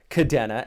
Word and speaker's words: Kadena: out here in japan if you spoke japanese you would know the e here on kadena would be an i if you pronounced it kadena the way i know